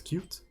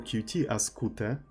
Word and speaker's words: Qt: anything like that or how is it supposed to pronounce cute uh right or like slav Flex uh how like uh or how slav calls them as far as I know all the slabs call the cute acute or cutie because that's how we pronounce things right at least East Slavs and I know poles also called kutte I'll know for a